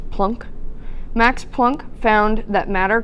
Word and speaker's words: Planck: Max Planck, I know it looks like Planck, but it's German and it is pronounced Planck.